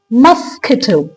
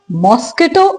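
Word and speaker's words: mosquito: इसमें three syllables हैं। देखिए ध्यान से देखिए। मस ओ वोवेल आया वन टाइम। ठी यहां यू और आई कंबाइंड है। क्यू टो। तो नेक्स्ट टाइम जब आप इसको प्रोनाउंस करेंगे तो कैसे प्रोनाउंस करेंगे? मॉस्किटो इट्स नॉट मॉस्किटो इट्स मॉस्किटो right और अब क्या कह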